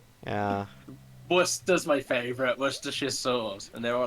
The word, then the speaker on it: Worcestershire: Kester it's like yeah Bliss does my favorite Worcestershire sauce and they were like we're a Caster shyary yeah or Chester Shire sauce what's the [